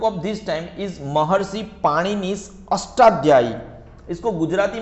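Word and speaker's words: पाणिनि: पाण ने ठीक है कुछ लोग इसको पानी नहीं बोलते हैं पनी नहीं बोलते हैं उसको ऐसे लिखते हैं गुजराती में महर सी पाण नी ठीक है पाणिनी महर्षि यह रहा प्रोनाउंस के हिसाब से महर्षि पाणिनी वो संस्कृत के महान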